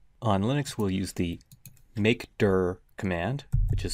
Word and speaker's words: mkdir: that it's empty on linux we'll use the make dur command which is spelled mkdir you can see i have also